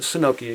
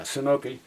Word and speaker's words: Synoke: This is the s y n o k e I'm going to pronounce it Sinoke again. Yeah, Sinoke.